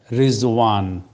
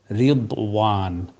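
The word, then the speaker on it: رضوان: তারপরে রিজওয়ান সন্তুষ্টি, আর আরবি উচ্চারণ হচ্ছে রিদওয়ান।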